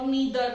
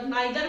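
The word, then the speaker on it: neither: आइदर, आइदर, आइदर, लेकिन actually में क्या होता है, ईदर, इट्स ईदर, नॉर, नीदर, नाइदर भी नहीं होता, नीदर, ऐसे ही ईदर, राइट।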